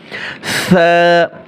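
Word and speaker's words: ث: আলিফ টান হবে এবং জিহ্বার আগা উপরে দাঁতের আগার সাথে লাগিয়ে নরম করে নরম করে সা আর এই একটা হচ্ছে জাল আরেকটা হচ্ছে জ এই তিনটা হরফের মাখরাজ একই জায়গায় এবং আপনাকে নরম করে উচ্চারণ করতে হবে একটু খেয়াল করুন আর দেখেন আমি কিভাবে বলছি সা অনেকে বলে সা হবে না সা নরম করে সা এরপরে জিম এখানে তিন আলিফ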